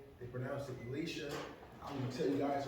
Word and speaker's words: Elisha: You find my full name, Elisha, not Elijah. The J is Elisha. Elisha.